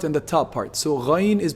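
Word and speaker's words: غين: Ghayn is pronounced from the highest part of the throat, the top part of the throat.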